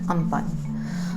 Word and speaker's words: Amphan: Amphan is written Amphan but is pronounced Amphan, just like Cyclone Foni was written Fani but is pronounced Foni.